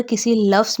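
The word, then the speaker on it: castle: अगर किसी लफ्ज़ में टी के पहले S और बाद में L हो तो वहाँ पर टी की आवाज़ खामोश हो जाएगी।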